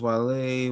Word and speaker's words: Guale: It's spelled Guale. The land of the gully. Guale. Yes, the land of the gully. That's Gullah, bro. Depending on who's saying it, that's Gullah. It's pronounced Wale, were an indigenous nation